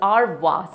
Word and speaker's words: Our Voix: It's Our Voix. It's Our Voix. It's correct. It's Our Voix. I pronounced it correctly?